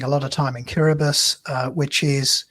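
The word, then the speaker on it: Kiribati: I was spending a lot of time in kirbus uh which is spelled kirati which is three hours on a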